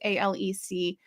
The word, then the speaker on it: Alex: gentleman Alex Murda which it's spelled a-l-e-x but it's pronounced a-l-e-c Alec murder uh has